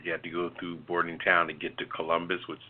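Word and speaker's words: Bordentown: I'm very familiar with boarding Town pronounce barding like boarding boarding house boarding boarding town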